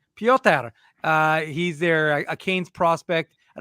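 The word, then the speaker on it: Pyotr: And Drew mentioned their goaltender, Peter, well, it's probably not Peter, but that's how I'm going to pronounce it. Kochetkov, who's a Canes, Hurricanes. Piotr. Yeah, exactly. Piotr.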